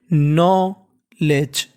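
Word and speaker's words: knowledge: पढ़ना होता है ज और एन से पहले अगर के लगा है तो उसका उच्चारण नहीं करना तो मीनिंग क्या बन गया देखिए नो लेज नॉलेज नॉलेज का मतलब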